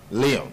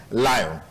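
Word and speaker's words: Lyon: Okay, now, the other thorny issue I wanted to get your thoughts on is, L-Y-O-N is spelled, is pronounced Leon in France, but in Bayelsa State it's pronounced Lion.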